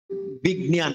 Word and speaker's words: বিজ্ঞান: এবার তাহলে কি দেখুন, তাহলে এবার কোথায় যে বর্গীয় জ, তাহলে বর্গীয় জকে আমরা গড় মতো উচ্চারণ করব এবং নিয়কে আমরা দন্তনের মতো উচ্চারণ করব, ওই আনুনাসিক উচ্চারণ করব। তখন কি হবে? বিজ্ঞান। এখন এবার চন্দ্রবিন্দু একটা দেখা যাচ্ছে কেন?